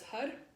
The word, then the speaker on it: Har: Mantra is Hud, H-H-A-R, but pronounced H-U-D.